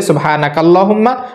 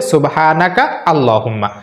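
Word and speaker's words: سبحانك اللهم: দেওয়া তাহলে কোনটা সঠিক দুইটাই সঠিক মিলিয়ে পড়লে সুবহানাকা আল্লাহুম্মা আর ভেঙ্গে ভেঙে পড়লে সুবহানাকা আল্লাহুম্মা আপনি দুইটাই পড়তে পারেন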